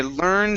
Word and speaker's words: learned: you said learned okay so watch your tongue don't roll the r okay so i learned how to play i